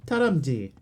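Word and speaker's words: 다람쥐: You can say it in Korean. Taramji. Taramji. Except the O, it wasn't bad. How it's hard to describe in text how you pronounce that correctly. Japanese, don't know. That's Korean. Taramji. Ah, taramji. Like the sound in bird.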